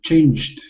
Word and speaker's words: changed: So, changed. Good. And I like your pronunciation. Changed. Really? Yeah. E D. Does it sound like a D at the end?